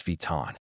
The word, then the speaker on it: Vuitton: The vui sounds like V, and the ton sounds like ton, like the color tan, with a W sound in the middle. The O and N combine